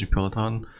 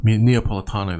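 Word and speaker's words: Napolitano: Now, there is a little note I was watching, I think Gerald Celente, Judge Neapolitan, I can never say his name. And basically, Neapolitano, that's right.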